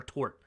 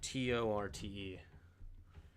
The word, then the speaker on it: torte: Or tort? Is it tort or torte? How do you... Tort. T-O-R-T-E. It's just tort. No torte.